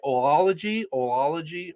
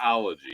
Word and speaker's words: Oology: Oology. All right, I got to try and remember it right. It's just ology.